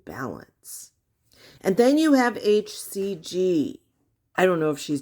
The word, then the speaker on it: HCG: And then you have HCG. I don't know if she's dyslexic. She always says HGC. It's HCG.